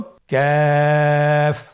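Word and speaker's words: ك: আবার বলুন কাফ। কাফের মাখরাজ আমরা স্ক্রিনে দেখতে পাচ্ছি। কাফের মাখরাজ হলো জিহ্বার গোড়া থেকে একটু আগে বাড়িয়ে তার বরাবর উপরে তালির সঙ্গে লাগিয়ে উচ্চারিত হয়।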